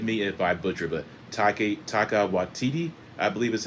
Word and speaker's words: Taika Waititi: I cannot pronounce his name, so please forgive me if I butcher, but Taika Waititi, I believe is how it's pronounced.